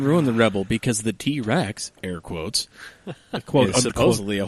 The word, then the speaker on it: TRX: power the the ram t-rex yes which is an awful name honestly because it spelled TRX yeah yeah but it is pronounced t-rex yeah according to WHO